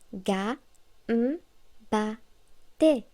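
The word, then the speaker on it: がんばって: Par exemple, le mot gambatte se prononce ga, ba, te.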